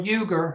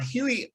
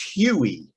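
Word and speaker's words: Huger: right now what is your assessment of general yuger who is pretty much unknown uh yeah huey it's actually pronounced huey okay pardon me which i've made that same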